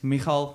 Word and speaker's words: Migael: His name is Migael, but there's many pronunciations like Migael, as the English people say. Yeah. But his name is Migael.